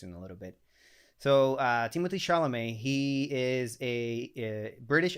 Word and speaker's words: Timothée: It's not pronounced Timothy. It's pronounced Timothée Chalamet. Something like that, but then think about someone saying that in with a French accent, and that's how it's pronounced.